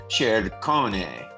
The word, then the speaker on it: Ciccone: The C before the E is always a CH sound. So it's Ciccone.